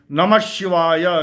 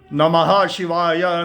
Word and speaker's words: Namah Shivaya: So you can see this Panchakshari mantra can be pronounced in only two ways. Namaha Shivaya, Namaha Shivaya, Namaha Shivaya,